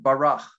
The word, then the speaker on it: bara: That's the Hebrew word barach, B-A-R-A, the way we spell it.